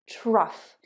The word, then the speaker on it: trough: Cough, trough. Now remember, number 1 was off. Enough, tough, rough. Number 2 is off. Cough, trough. Cough is to cough.